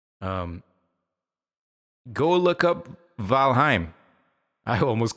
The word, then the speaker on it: Valheim: to lie to you I was mispronouncing that and I actually trained my buddies to mispronounce that uh by mistake every now we all call it valim which is totally wrong it's called valim right cuz it's Nordic and finish and whatnot